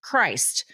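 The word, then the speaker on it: Crist: Among their children is a son named c r i s t, pronounced Christ, a name that, while anecdotal, reflects a bold, perhaps provocative, sense of naming within a deeply religious family.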